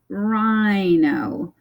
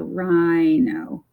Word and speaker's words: rhino: And then we have the word rhino. And this word, the I, you hear it say its name. So rhino.